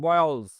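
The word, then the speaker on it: boils: এটা বয়েল উচ্চারণ না, বয়েলস। এখানেও কিন্তু বর্গীয় জয়ের মতো উচ্চারণ হবে এস এর উচ্চারণটা।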